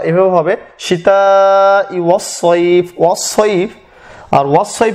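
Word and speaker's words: وَالصَّيْفِ: উচ্চারণটা এভাবে হবে সীতা ওয়াস সাইফ ওয়াস সাইফ। আর ওয়াস সাইফ এই জন্য বলা হচ্ছে সাইফ যে এখানে সিন না বরং এখানে শব্দটা সদ, ওয়াস সাইফ ওয়াস সাইফ,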